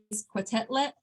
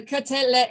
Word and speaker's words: Quetelet: But Adolphe Jacques Quetelet created the Quetelet Index. I think the T is silent. I think it's Quetelet.